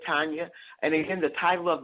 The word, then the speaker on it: Tania: She actually spells her first name Tania, but she pronounces it Tania.